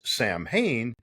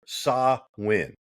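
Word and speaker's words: Samhain: And it is not pronounced Sam Hayne, but rather Sawin.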